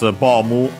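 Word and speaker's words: ボム: he means soldier and then bomu of course from bomb and yeah it's bomu of course because of course how it's written and some also pronounced most in certain uh varieties of English closer to O uh to O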